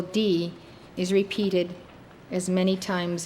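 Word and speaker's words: dhīḥ: DHIH, pronounced D.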